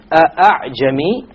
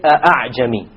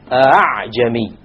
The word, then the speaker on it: أَعْجَمِي: It is not a pure hamza, and it is not a pure alif. It is in between. This is known as tasheel. أَعْجَمِيٌّ وَعَرَبِيٌّ.